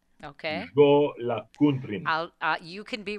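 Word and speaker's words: Jólakötturinn: It's Jolakuntrin. Okay. Jolakuntrin. You can be right in my book. Well, this is one scary kitty cat. The Yule cat, the Jolakuntrin or Jolakuntror, is a huge and vicious cat from Iceland.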